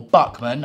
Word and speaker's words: Bachmann: so here we have the Bachmann Henry or Buckman I mean I'm pronounce it how you want I mean I say backman and we also have